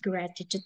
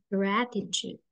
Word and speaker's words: gratitude: Jadi second t-nya itu jadi agak teh ya, agak kita coba lihat ya. Nice sponsors esteemed. Aku kembali ke sini ya, ke Google yang kucintai. How to pronounce gratitude. Thank you lah, Mbak Siska. Gratitude. Nah, tuh dia jadi Ch, Sobat-sobat. T-nya yang kedua.